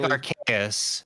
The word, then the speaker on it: Arceus: always said Arceus, and I hate saying Arceus. To me, it looks like Arceus, but it's actually Arceus. Arceus, but like I feel like the general consensus is that most people actually pronounced it Arceus. I pronounced it Arceus ever since I first saw the word. What's funny is I'm pretty sure it's Arceus in the Japanese pronunciation.